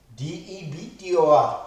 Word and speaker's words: debtor: We write डेटर, DEBTOR. in this case B is silent, we call it debtor.